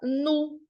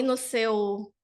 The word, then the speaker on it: nous: Essa palavra nós, em francês, a gente fala nu. Então, aí no seu caderno de francês, você vai já me dizer aqui, prof, então o U tem o som de U do português. Exatamente. Então a gente não fala nos. Ainda tem o detalhe do S, né, gente?